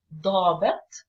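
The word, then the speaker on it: ضابط: Again, your jaw goes down, like the word officer in English. In Arabic, it's dabit, dabit. So if you want to say the officer, I say ad-dabit or id-dabit. We stress on the first letter.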